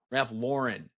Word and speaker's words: Ralph Lauren: agency leadership she even worked at Ralph Lauren Ralph Lauren is how you pronounce it actually uh but notorious 111 is